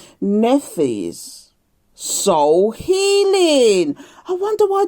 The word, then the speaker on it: Nephthys: So we've got today is Nephthys. I don't know if I'm pronouncing that right though. It's Nephthys. So it's Neph. The PH is silent, isn't it? It's pronounced as F, isn't it? Nephthys.